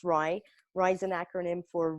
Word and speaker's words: RIE: It's pronounced RIE.